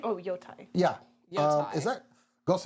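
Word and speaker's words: Yōtei: I learned and then forgot how to pronounce it. Ghosts of Tsushima. Go. what's the Yotai. word? Yotai. Oh, Yotai.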